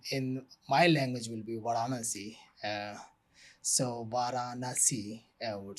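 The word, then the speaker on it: Varanasi: Uh a cities called a city called Vanasi. Uh I've heard of I think yeah pronounce like in the British pronounce different way we pronounce in in my language will be Vanasi.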